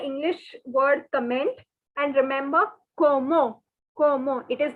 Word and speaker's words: comment: we'll go very slowly the first word that you can see with the spelling is c-o-m-m-e-n-t which is like commend in english the pronunciation is como so forget the english